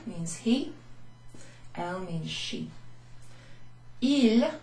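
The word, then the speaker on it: ils: Il, with an S at the end, which actually sounds exactly the same as that one.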